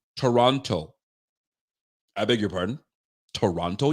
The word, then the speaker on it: Toronto: I beg your pardon Toronto you don't pronounce the teas in you only pronounce the first T in Toronto that's it you don't